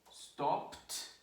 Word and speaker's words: stopped: So again, stop, one syllable, stopped, one syllable, no extra syllable. Work, one syllable, worked, one syllable, no extra syllable. Okay? So there is no stoppage and there is no workage.